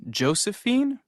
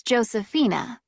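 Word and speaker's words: Josefina: just check this information is your first name Josephine actually it's Josephina it's spelled j o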